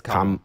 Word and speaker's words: Kamala: It's not Kamala, right? It's Kamala.